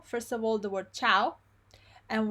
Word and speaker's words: ciao: Okay, we saw first of all the word ciao, and we found out that cha, and chu are always pronounced ch. Okay, and the I is not pronounced ever. We saw the word cameriere